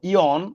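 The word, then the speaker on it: yawn: এরপরে দেখো পরের যে শব্দটা ওয়াই ডবলিউ এন বল ইয়ন উচ্চারণটা হচ্ছে ইয়ন।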